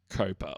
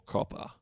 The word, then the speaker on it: COPPA: henceforth call Coppa or copper you can I reckon pronounce it any way you like but there I think they say it's Coppa was it copper I think it's copper yeah will be copper cuz double P if